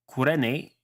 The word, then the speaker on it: Cyrene: Was first done by a Greek named Eratosthenes, who was from the city of Cyrene, which I believe is pronounced something like Kyrene in Greek, and is located in present-day Libya, but at the time was part of Ptolemaic Egypt.